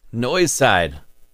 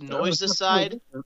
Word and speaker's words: Noise Side: Noise side. Wow. Is that pronounced noise-a-side? Noise-side. Like genocide? No, just noise-side. Noise-side.